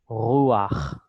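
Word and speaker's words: רוּחַ: So what we're going to do is we're going to just throw in what is called the furtive patach, and that's pronounced before the chet actually. So it becomes boreach, notea, rakia, ruach.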